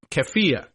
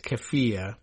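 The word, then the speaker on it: keffiyeh: use of a um keia, I guess. Is that how we're pronouncing it? I I you know, it looks to me like Keia, but I think it's kafia.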